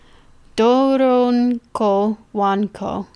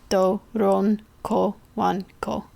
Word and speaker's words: Doronko Wanko: Well, yes, I know, but Doronko Wanko, if that makes it any. It's spelled exactly how I said it. Doronko Wanko.